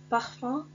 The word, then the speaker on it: parfum: et le mot brun parfum um se prononce 1 brun un se prononce